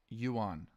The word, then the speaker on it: yuan: Yuan pronunciation. Yuan.